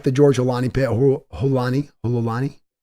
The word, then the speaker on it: Holani: Holani. That's how you pronounce it.